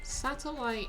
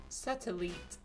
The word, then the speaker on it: satellite: So, satellite in English translated to French is still spelled the same, but it's pronounced satellite. Satellite. Satellite. Yeah, so instead of Dedenne, it's pronounced Dedenne.